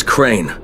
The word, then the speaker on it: Crane: store no my name's crane crane crane rhymes with train and brain and S and Grain and rain and plane and the other kind of plane and and but can